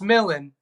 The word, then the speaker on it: MLLN: It's Millan. It's spelled MLLN.